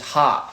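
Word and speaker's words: ห้า: In Thai, we pronounce 5 is ha.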